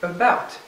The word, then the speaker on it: about: words about uh about two syllables stressed on the second about so with this we'll